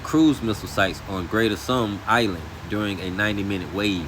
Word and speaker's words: Tunb: Uh I had to look that word up, but it's it's I guess it's supposed to be pronounced Tunb, like sun with a b at the end of but Island during a 90-minute wave, and that the US military is holding Iran accountable, all right?